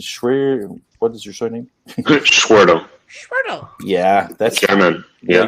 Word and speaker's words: Schwertel: Schwertel. Schwertel. Yeah, that's German. Yeah. You pronounce it way better than I do anyway.